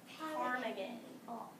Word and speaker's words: ptarmigan: The willow ptarmigan. So the P is silent.